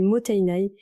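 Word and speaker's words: もったいない: Commençons par le cœur de notre démarche, le motenai. Ce mot japonais, prononcé moteinai, est bien plus qu'une simple injonction à ne pas gaspiller.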